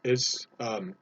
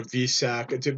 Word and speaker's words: Wesak: Today is Wesak or Vesak. You can pronounce it 3 or 4 different ways.